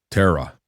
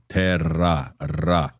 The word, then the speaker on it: terra: They have a hard time pretty difficult time pronouncing that r sound uh the rolling r sound. So they would say terra terra. It's terra. And when you have two rs together, it's more of a rolling r sound.